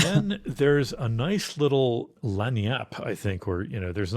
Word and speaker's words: lagniappe: It's pronounced lagniappe. It's a Lagniappe. French term that means a little something extra, like a small bit. Ooh, it's Cajun.